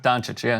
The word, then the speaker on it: Dončić: writers listen jock itch right yeah daunted right Don Cheech am I pronounce this right yes come on dope joke